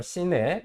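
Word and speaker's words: CNAPP: CNAP이라고 읽어요. CNAP.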